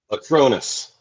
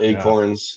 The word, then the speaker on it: Acronis: Is it Is it Acronis or Acronis? Acronis. I thought Okay. Acronis. Not Acorns. Not Acornis. Not Cornies.